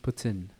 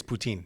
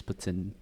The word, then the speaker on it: poutine: right all right and it's pronounced uh it's pronounced Putin Putin out there yeah but here's poutine yeah the right way of saying it is Putin really that's the right